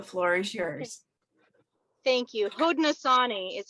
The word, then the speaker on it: Haudenosaunee: Haudenosaunee is how you say that.